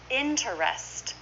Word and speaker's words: interest: that with me Catholic interests again we say this is two syllables interest this is just like shortening interesting interest say that with